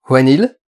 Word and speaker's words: Whannell: Bonjour à tous, il va être question aujourd'hui de Insidious 3, réalisé par Leith Whannell, je crois que ça se prononce comme ça, Whannell, normalement.